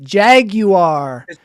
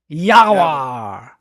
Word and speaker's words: jaguar: Jaguar. Jaguar. No. It's pronounced Yawa. Yaguar.